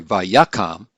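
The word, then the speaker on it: וַיָּקָם: and so we have avaya kam or sorry vayakam by yakom it's got the accent there on the first syllable of the actual verb and this is coomb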